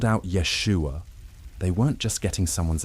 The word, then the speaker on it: Yeshua: The esh sound in Yeshua, for instance, didn't exist in classical Greek. Greek speakers couldn't properly pronounce it.